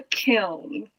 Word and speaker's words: kiln: It's called a kiln. Wait, how do you spell that?